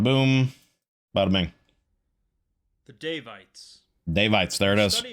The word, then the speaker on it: Daevites: The Daevites, not sure what it's pronounced, but we'll find out here momentarily. Bada boom, bada bing. The Daevites. Daevites, there it is.